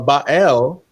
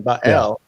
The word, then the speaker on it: Baal: of ba y ba or bael I think that's the right pronunciation bael Baal is uh his one